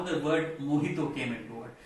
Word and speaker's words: mojito: And that's how the word mojito came into it. It's a Spanish word, that's why J is not pronounced as J, it's pronounced H, that's why it's called mojito, not mojito.